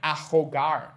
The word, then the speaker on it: ahogar: Ahogar, no. Ahogar. So, notice how there's an H in these words, but there's no difference in their pronunciation?